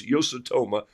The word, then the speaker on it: Yasutomo: And they'll also tell me all the words that I tell you this morning that I pronounced incorrectly. But I know it's Yasutoma.